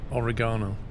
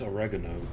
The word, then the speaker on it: oregano: how do you say oregano I would say it as oregano ah you'd say American then I know but I